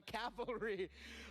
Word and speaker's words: cavalry: Oh, so you mixed up the L and the I mixed it up, but that's the first thing that comes to mind.